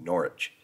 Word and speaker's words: Norwich: City of Norwich gosh it's so hard not to want pronounce the W but I feel I don't I don't need to I I kind of have a feeling norch it's the W is not I have to pretend